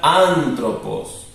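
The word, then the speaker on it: ἄνθρωπος: también llevo un acento entonces esta palabra se diría anthropos esto este simbólico es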